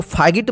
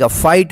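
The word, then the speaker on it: fight: उच्चारण होता है और जी एच का उच्चारण नहीं होता यानी साइलेंट रहता है ठीक है यहां पे इससे फाइट इसको फाट मत पढ़िए फाइट होगा एल आई जी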